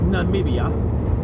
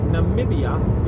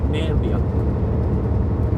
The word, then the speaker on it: Namibia: At the end of the day, Namibia is a hard word to say. And I've met people from Namibia. I actually have. He said, I think he said Nambia. And he said it wrong.